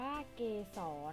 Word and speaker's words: เกสร: ค่ะ อ่ะ มี คำ ว่า เกสร อ่าน ว่า เกสร หมาย ถึง มี ส่วน ใน ของ ดอก ไม้